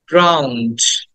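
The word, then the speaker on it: drowned: জ ক্লথস খেয়াল করো ক্লথস 24 উড বি ড্রাউন্ড এটাকে অনেকে ড্রন বলে বাট উচ্চটা হবে ড্রাউন্ড ড্রাউন্ড ড্রাউন্ড ড্রাউন্ড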